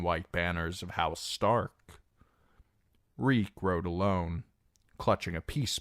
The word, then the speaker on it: Reek: Reek, Reek, it rhymes with leak.